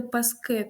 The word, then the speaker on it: паски: на першому складі паска Але якщо ми візьмемо назвниї множини То вже буде паски тобто наголос на флексії на закінченні е-е є правило ее